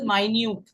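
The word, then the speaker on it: minute: नी यस मक फो क्या मैंने अभी आपको बताया कि इसकी स्पेलिंग मिनट से मिलती जुलती है बट दिस इ नॉट मिनट this माइन्यूट माइन्यूट मा मान कमप कंपैक्ट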